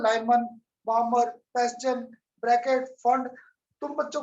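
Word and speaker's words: Pfund: तो आज देखो मैं भी पफंड बोल के बैठ गया जबकि पी इसमें साइलेंट था, दैट वाज फंड सीरीज।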